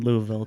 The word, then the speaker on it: Louisville: here when we said is it Louisville or Louisville she's like yeah that's fine she's just so used she's so used to people there's a silent old in Louisville too exactly um and you